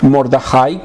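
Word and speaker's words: Mordecai: Y se mantuvo fiel a su fe, gracias a su tío Mordajai, que es como se pronuncia en hebreo, quien había salvado al rey de una conspiración.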